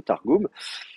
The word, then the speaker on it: Targum: êtes des grands donc vous savez que le U ça se prononce ou pour le grand public on écrit au U parce que sinon les gens ils disent Targum mais bon voilà votre